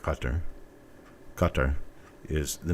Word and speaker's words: Qatar: use you know like qatar qatar is the name of the country it's a guttural k it is not cutter but we insist on